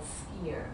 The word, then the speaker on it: skyr: see in the stores called skier and that's skyr and skier is like